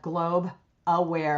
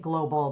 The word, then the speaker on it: Globe Aware: The main thing is that one handle, looking up Globe Aware, and a lot of people make it global, but it's Globe, one syllable, aware, and we're everywhere that people look.